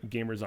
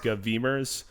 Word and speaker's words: GVMERS: Pronounced gamers, by the way, not GVMERS or GVMERS.